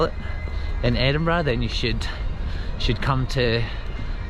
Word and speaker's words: Edinburgh: pronounce Edinburgh a lot of American people always pronounce it Edinburgh and if you say that in front of Scottish people though no Credence because it's just Edinburgh so just remember that when you're coming here